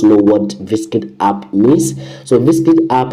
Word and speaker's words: VSKIT: to make this money is called Viskit. You can see this how the app looks like. It is spelled VSKIT.